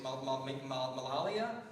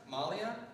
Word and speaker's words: Malala: I can never quite say her name quite right. I've heard it several different ways. Malia? Malala. Can we put the picture up? You all know then. Malala, thank you.